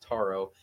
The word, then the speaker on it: Taro: I want to point out, I did tell John that it's pronounced Taro, and if you look in the back, like on the appendices for book 2, where there's a pronunciation guide, it says Taro there too, but he said Taro.